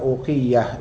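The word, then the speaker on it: أوقية: Beda lagi dengan uqiyah ini, uqiyah ya, ini U-nya panjang.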